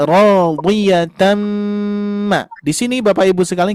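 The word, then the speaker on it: رَاضِيَةً: Maka Ibu Bapak jangan membaca rodi, rodiyatan. Nah, bukan rodi ya. Rodi, rodi, gitu ya. Maka dibacanya radiyatan.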